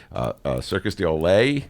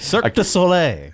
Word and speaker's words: Cirque du Soleil: It's under the, Kevin Beverly, the pride and joy of Chicago, will be here talking about Circus du Soleil. I may have butchered that. Cirque Du Soleil.